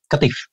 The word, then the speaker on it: Qatif: Is that how you pronounce it, Habeeb? Yeah, Qatif.